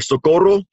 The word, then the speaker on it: Socorro: Tomorrow, we've got an event down in Socorro, Texas. It starts at 11, or Socorro, if you want to say it like the Spaniards do down there.